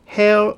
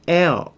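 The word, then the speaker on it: heir: 발음은 hair 아니고 air 이렇게 씁니다. 공기 air 요거하고 발음이 똑같아요. H 얘는 묵음 소리가 안 나요. hair가 아니고 air 이렇게 발음되거든요.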